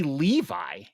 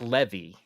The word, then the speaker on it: Levi: wrong I apologized him Zachary Levi is the proper pronunciation of that dude's name I have been saying Zach Levy where did I get